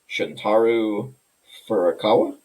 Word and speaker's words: Shuntaro Furukawa: Nintendo president, I'm going to try and say his name, Shuntaro Furukawa?